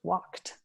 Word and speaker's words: walked: now you're hearing that it's not walk it it's walked it's hard to remember